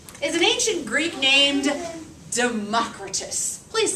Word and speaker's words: Democritus: Democritus.